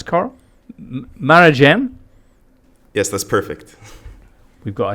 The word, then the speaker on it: Marjan: Marjan. How do I pronounce coral? Marajan?